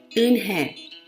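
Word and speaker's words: Unhei: she not it slowly yes it's pronounced in her and it means grace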